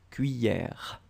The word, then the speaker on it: cuillère: But still, normally this E-double-L should be pronounced like yeah. Remember? So, cuillère. And we don't emphasize on the final E is mute, so basically it's cuillère.